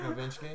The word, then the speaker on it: Nowitzki: Dirk Nowitzki.